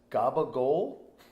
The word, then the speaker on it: capicola: of you don't know capicola it's pronounced in the Italian world as gabagool not even there's not one letter that he capicola is like ca PA